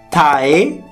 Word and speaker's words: Taehyung: Taehyung.